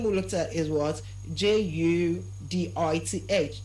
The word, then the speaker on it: Judith: I said the name is pronounced as what? Judith. It's pronounced as what? Judith. And not Judith. It's not Judith. Everywhere you have a words with letters th giving you the sound change it to the sound. And how do you pronounce the sound? Just place your tongue in between your teeth and try release some air.